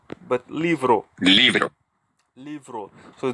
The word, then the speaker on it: libro: it's not pronounced like libro but libro leave it so the B sounds like V and Leivers libros for